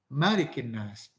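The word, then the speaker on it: مَلِكِ النَّاسِ: Tapi kalau untuk surat An-Nas, yang ada hanyalah Maliki, ma-nya pendek. Tidak pernah Rasul membaca misalnya Qul a'udzu birabbin nas, malikin nas, tidak ada. Yang ada hanyalah malikin nas.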